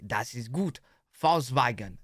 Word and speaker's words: Volkswagen: But even if we did go by the full name, it would be pronounced Volkswagen and not Volkswagen. So Volkswagen. Just imagine that it was spelled with an F and V instead.